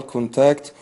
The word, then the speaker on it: contact: try to Avid physical contact while you are usually we'll say here contact we're using this one as a noun so put stress on the first syllable not the second speaking since this may